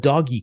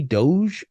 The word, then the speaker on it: Doge: when when he uh said this I have doggy coin is that how you say it how do you say it doggy Doge okay well Doge was worth a thousand dollars